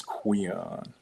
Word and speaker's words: Queon: It's after GQX, but my name is Queon. Queon. That's a little different. Rhymes with Leon.